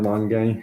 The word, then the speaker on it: Lange: Kyle Finnegan, Alex Lang, or Lange, however you pronounce his last name. I think it's Lang because the E is silent.